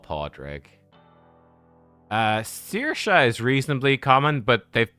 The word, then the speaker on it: Saoirse: Saoirse is reasonably common, but they've put in a pun. It's normally like, you know, if you think of the actress, Saoirse Ronan, it'd be like Saoi or Se, Saoirse.